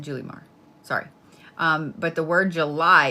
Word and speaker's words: Julimar: Is it Julimar or Julimar? I pronounce it Julimar.